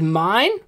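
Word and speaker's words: Myne: partnering with men now i'm pretty sure the anime pronounces her as mine but you know like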